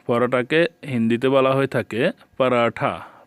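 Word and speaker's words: पराठा: হিন্দিতে বলা হয়ে থাকে পারাঠা পারাঠা আমরা ট উচ্চারণ করি তারা ঠ উচ্চারণ করে আলু আলুকে হিন্দিতে আলুই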